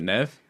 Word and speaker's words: Neve: right you're wrong oh is it Nev rhymes with Bev oh that's what it